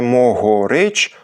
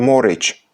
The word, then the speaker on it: могорич: Тому що між двома о могорич та ще й у ненаголошеній позиції фрикативний звук грич пропадає у розмовній мові і вимовляється не могорич, а просто морич, що й було записано.